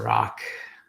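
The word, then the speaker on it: Rak: my name is Dr Rock that's pronounced like r-o-c-k that's spelled r-a-k and I am a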